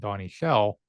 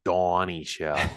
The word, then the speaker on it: Donnie Shell: wood Joe Green Mel blunt Jack Lambert and Donnie shell but the first three guys I named on